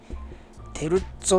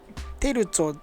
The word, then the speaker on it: テルッツォ: テルッツォって読むんだね。テルツォだと思ってた。テルゾーじゃないしね。